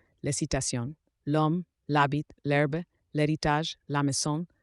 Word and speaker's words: l'homme: La letra H francesa es muda al comienzo de las palabras de origen latino, excepto en la combinación si y ach. Aquellas palabras que empiezan con H mudas se comportan como si no existiera la H, haciendo la liaison o la contracción con el artículo.